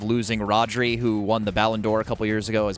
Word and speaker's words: Ballon d'Or: They are in the process of losing Rodri, who won the Ballon d'Or a couple years ago, as basically like the best player on the planet.